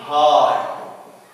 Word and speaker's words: high: Like in high. هنا ما بننطقش الجي والـ H.